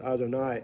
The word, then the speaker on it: Adonai: or a reminder that we say it as Adonai and not as Yud Ke Vav Ke pronounced.